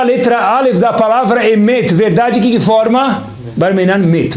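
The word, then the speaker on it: אמת: Como se fala verdade em hebraico? Emet. Aleph, Mem e Taf. Acompanhem comigo. Olhem que curioso. O Mem sem vogal, que som tem? Masbut, tem um som.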